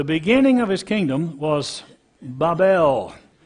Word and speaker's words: Babel: of his kingdom was babel that's a long a sound bible and eric